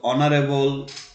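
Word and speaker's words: honour: অনেস্টের এইচটা কিন্তু সাইলেন্ট এবং এটার উচ্চারণটা ভাওয়েলের মতো। সো অনারেবল, অনার, অনেস্ট, বিশেষ করে অনারের ক্ষেত্রে জি আই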